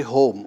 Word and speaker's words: homa: It may not be pronounced as homa farming, it's simply home.